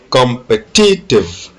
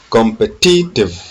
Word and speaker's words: competitive: In 19, the stress is on T, competitive, competitive, competitive.